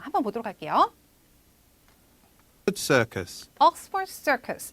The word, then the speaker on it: Oxford Circus: Oxford Circus 이렇게 얘기했었죠. 자, 그래서 여러분 앞부분에 두 단어 이상으로 된 그 명사가 고유명사를 나타낼 때 앞쪽에 강세를 뒀다고 보시면 됩니다.